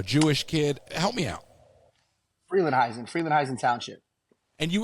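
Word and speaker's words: Frelinghuysen: name I'm a Jewish kid help me out Freeland heisen Freeland heisen Township and you were the mayor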